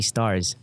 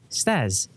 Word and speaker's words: Staz: right and yes steve call me stars not staz i mean it's easy to say my name staz s t a z you don't have to put an r on my name but enough of that